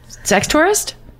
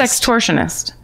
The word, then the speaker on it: sextortionist: Sex tourist? Like sex. Or like sextortionist. Ionist. Sextortionist. Like an extortionist, yes. But with sex.